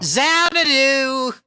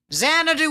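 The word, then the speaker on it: Xanadu: Zanadu. Zanadu. I can't believe that was the hardest question. Zanadu. Everyone remembers Zanadu. Zanadu with an X.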